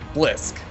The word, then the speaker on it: Blysk: the blue Protoss player we got official pronunciation lessons from him in the lobby it is BLISK wow that about it